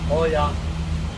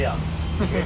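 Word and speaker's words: Oia: the corner is here many call it Oya sorry guys that's wrong it's actually yeah which when we have o and I we pronounce it E I don't know why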